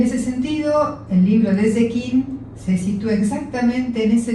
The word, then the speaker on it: Zecchin: Leer Pasajeros de Babel de Sechin, dígame usted cómo se pronuncia. Zekin. Zekin exige acordar desde el comienzo una premisa que George Steiner sostuvo a lo largo de su obra crítica.